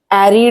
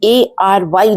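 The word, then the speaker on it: ARY: जैसे मैं क्या कह रही थी? एरी डिजिटल। फिर मुझे किसी ने बोला ये ए आर वाई डिजिटल है।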